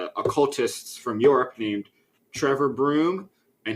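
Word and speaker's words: Bruttenholm: from Europe named Trevor Broom, and his last name is not spelled like Broom, but that's how they pronounce it.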